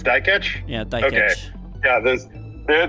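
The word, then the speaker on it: Dikeç: to Olympic silver silver medalist youf I can't pronounce that last name die catch it's die catch yeah die catch yeah there there there's the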